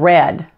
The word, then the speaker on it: read: Red and red. Now R-E-A-D in this case is the past tense of the verb to read. It's pronounced red, just like the color.